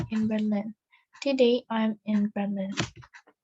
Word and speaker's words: Berlin: Today I'm in Berlin. Sebenarnya pengucapannya R-nya nggak terlalu ketara karena orang Indonesia R-nya itu jelas ya, jadi Berlin. Kalau di sana mungkin ngomongnya Berlin. Gitu.